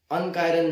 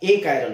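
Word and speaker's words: achiral: अगर super impose हो जाता है then it इज अ ए कायरल, अनकायरल नॉन कायरल ऐसा नहीं होता, ए कायरल होता है, ए कायरल, ठीक है।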